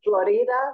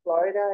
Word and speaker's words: Florida: big shopping street that's called Florida, which is Florida in our way of pronouncing it, and you can have all these guys walking around saying cambio, cambio, and they'll change your dollars.